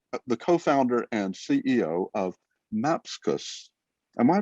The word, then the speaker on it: Mapxus: the co-founder and the co-founder and CEO of Mapskus. Am I pronouncing that right John? Mapskus. How do you say it? you you I'm not a native English speaker so I don't you but we usually say Maxis.